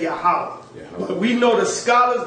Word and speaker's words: Yahweh: But if you read in the Hebrew, it's going to say Yahweh, just like you have in this book. That this seems to be the true Hebrew pronunciation of the divine essential name, Yahweh or Jehovah.